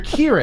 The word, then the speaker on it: Kieran: So you're Kieran. Kieran. Okay. Yes, the first syllable rhymes with beer. Kier.